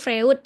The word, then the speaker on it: Freud: Tulisannya Sigmund Freud tapi bacanya Sigmund Freud karena dia berasal dari Jerman dan di Jerman itu bacanya OI.